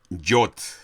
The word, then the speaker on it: Yod: 10 del alfabeto hebreo, que se le llama Yod.